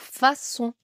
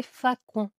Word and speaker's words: façon: Pareil pour façon ou sinon ça fait fa con.